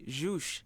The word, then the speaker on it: zhuzh: Well, also, if you spell it with two O's and SH, it makes me feel like it should be zhuzh. Zhuzh. I feel like the ZHUZH spelling is the one that's most transparently renders that pronunciation.